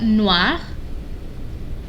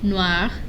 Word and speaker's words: noir: Then we've got noir. Noir, if it's feminine. Noir. They're pronounced the same.